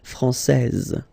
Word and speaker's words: française: Okay, so français, here you get this final S that you don't pronounce, so français, and then when you put this final E here, you will get française.